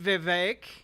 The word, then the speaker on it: Vivek: I wonder who's responsible for the wages remaining stagnant, Vivek. Rhymes with cake.